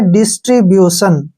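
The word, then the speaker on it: distribution: क्या पढ़ेंगे इसको ब्यूस यहां पे हमने ध्यान रखना है कि जब भी टी आई ओ का उच्चारण होता है तो वहां पर स का उच्चारण करते हैं ठीक है ना इसको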